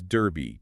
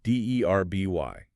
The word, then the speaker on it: Derby: It helps establish the name's importance and ensures the pronunciation sticks. Our last major Midland city is Derby, D-E-R-B-Y.